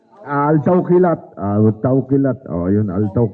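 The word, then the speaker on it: Al-Tawkilat: Alti Kawalat. Good start, Pinag-isipan ko pa, 15. yung sasabihin ko. 12, Alti Kawalat. Ang hirap bigkasin. Ang hirap bigkasin. Altaw Kilat.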